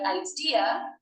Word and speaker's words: idea: The word idea has 4 letters, but 3 syllables.